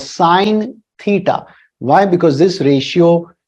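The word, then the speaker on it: sine: theta this is not sin theta it is pronounced as sin theta it's so it's not like some sin or crime you're committing it's called sin theta why because This ratio depends on this angle theta.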